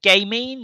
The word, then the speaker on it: gamine: I mean, is it gamine? Is that how one pronounces that word? Gamine, Gamine. Gamin. Gamin. Yeah. She is. She not is. Gammon. Not Gammon. No, definitely not.